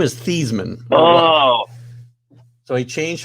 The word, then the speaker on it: Theismann: he changed how he he changed how he pronounces his name back when he was at notre dame so it would rhyme with heisman his name is thiesman oh so he changed